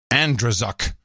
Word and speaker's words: Andrzejczyk: My name is pronounced Andrzejczyk, if you decide. Okay, Andrzejczyk.